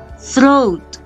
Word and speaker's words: throat: Nah, lalu yang terakhir throat. Throat. Nah, ingat kalau ada TH, lidahnya agak digigit sedikit ya cara bacanya.